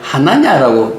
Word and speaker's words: 하나냐: 그러니까 아나니아와 삽비라가 생각하고 있는, 아나니아가 아니라 하나냐라고 읽어야 된대요.